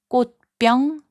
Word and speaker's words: 꽃병: 꽃병, which means flower vase, is pronounced as 꽃병.